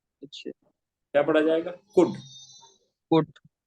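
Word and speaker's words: could: कैसे पढ़ेंगे आ नॉट इसके अंदर याद रखना है के एल से पहले यू अगर आ जाए तो फिर एल को नहीं पढ़ा जाएगा कुट पढ़ा जाएगा क्या पढ़ जाएगा कुड कुट जी कुड नहीं पढ़ा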